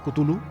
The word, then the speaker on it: Cthulhu: Pues es que es impronunciable realmente. O sea, era una de las premisas que tenía Lovecraft para que algo realmente pareciese de fuera del mundo, ¿no? Que los nombres de las criaturas fueran realmente muy difíciles de pronunciar. Yo creo que nos podemos quedar con Cthulhu.